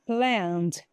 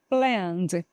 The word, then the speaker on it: planned: Letra E aqui, ó, é silent, que não vai falar e a letra e não fica plened, tá? planed. Planned.